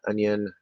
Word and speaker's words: onion: um so white uh the last vowel sound in onion is a schwa or a from sit i think